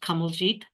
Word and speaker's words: Kamaljeet: to value ourselves and say, my name is Kamaljeet, pronounced Kamaljeet, rhymes with whatever if you want to make it easier, or.